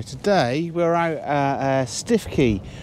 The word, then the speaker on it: Stiffkey: we're at uh uh stifkey or stuckey i think is how the locals pronounce this one here uh up on